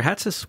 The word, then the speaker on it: Hatsis: yeah it has this it's like you wear a hat on your head and somebody would call